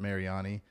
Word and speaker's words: Mariani: to it today i have my friend robert mariani i asked you just a second ago how i pronounced your name but uh tell me tell